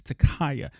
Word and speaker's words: Ta'Kiya: Takaya I'm sorry I think I'm saying her name wrong it's Takaya Takaya young and two other individuals were walking